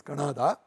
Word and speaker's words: Kanada: It is not Canada or some such thing, it is Kannada.